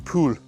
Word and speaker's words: poules: Bonjour les poules. I'm not pronouncing the L enough. Otherwise it sounds like I'm saying good morning lice.